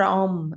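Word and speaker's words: ॐ: Actually, Om or Om, it's up to you how you pronounce it.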